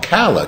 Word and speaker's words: Kala: in any case uh I said it wrong kala K kala k a l a rhythms kala